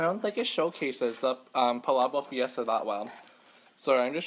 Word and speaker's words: Palabok Fiesta: And then I asked her, I was like, oh, how do you pronounce this dish? And she told me, it's Palabok Fiesta.